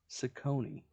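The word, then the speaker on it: Cecconi: Slade, I think Cecchoni, right? Is that how you pronounce it? Ciccone.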